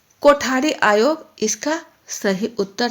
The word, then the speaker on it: कोठारी: आप देख रहे हैं कि कोठारी जब इसका उच्चारण किया जाता है तो कोठारी, हिंदी में इसको बोलते हैं कोठारी। इसमें ठ अक्षर आया, ठ।